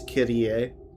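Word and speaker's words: Kirie: Actually, the way she pronounced it is Kyrie. I've been pronouncing it wrong this entire time.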